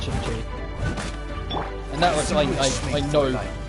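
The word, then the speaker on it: Qiqi: And yes, it is Chi-Chi. I know it's spelled Q-I-Q-I, but it's pronounced Chi-Chi.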